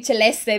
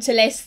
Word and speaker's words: Celeste: is a list celeste i always i will always say celeste because it's literally italian celeste so yeah her behavior